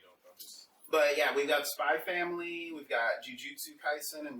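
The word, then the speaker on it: Spy × Family: I learned from Hunter x Hunter you don't pronounce the X.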